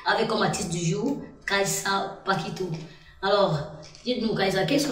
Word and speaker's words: Kaisa Pakito: Alors c'est juste cette phrase qu'on va prendre une pause musicale avec cette chanson de Kaiza Paquito, Je suis occupée. Oui, vous avez bien prononcé mon nom.